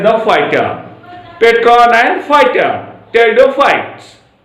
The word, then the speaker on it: Pteridophytes: Pteridophytes. P is the silent. Pteridophyta. Not be pteridophyta. P is silent.